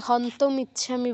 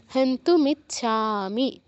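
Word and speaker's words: হন্তুমিচ্ছামি: আর ত আছে তো এটা অনেকেই হন্ত ইচ্ছামি বলে কিন্তু হন্ত ইচ্ছামি বললে হবে না এখানে উকার আছে হান্তু হান্তু মিচ্ছামি এই লাইনে শুধু ছাতে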